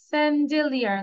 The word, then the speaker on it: chandelier: আচ্ছা, স্যান্ডেলিয়ার, সিএইচএন, স্যান্ডেলিয়ার। আমরা পুরো আর এর উচ্চারণ করবো না, স্যান্ডেলিয়ার।